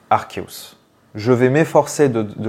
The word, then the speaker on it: Arceus: traduction et cetera mais ce Pokémon légendaire le dieu des Pokémon est censé se prononcer archeus je vais m'efforcer de